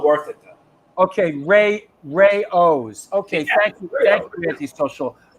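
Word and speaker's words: Rao's: actually no i've never been there do you pronounce it rayos yeah i've never been there you know i got i gotta say something rayos now i guess they they um their sauce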